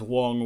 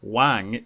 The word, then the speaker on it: Wang: am not pronouncing garrett wong's name wrong in mandarin even though the anglicized spelling has an a the surname is not wang it's wong i got so many